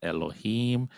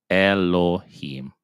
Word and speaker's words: אֱלֹהִים: We're to talk about our Aleph being silent and our Hatef Segol goes like you're dropping your chin low. Our Lamed, that makes our L sound as in English, followed by our Olam, which makes our O sound, our double O. Our O sound, sorry. So Lo, and we have our